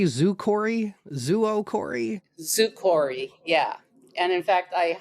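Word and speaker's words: zoochory: Because I didn't know how to pronounce it. Zukori, Zuokori? Zukori, yeah.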